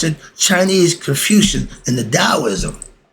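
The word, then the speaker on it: Taoism: Chinese confusion in the Daoism when I say da it's spelled t a o i s m i don't say taism Chinese and Egyptians flipflop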